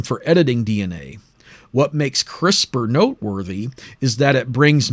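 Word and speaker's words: CRISPR: the acronym C p r i p is pronounced crisper and it is a system for editing DNA what makes crisper noteworthy is that it brings much greater precision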